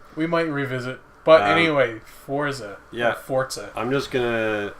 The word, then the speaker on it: Forza: i think it's pronounced forza yeah but i'm not italian and coming from the guy who tells me i'm an idiot for pronouncing british words the way british people do i'm gonna say no i no cause forza is an italian word it means strength yeah in italian so you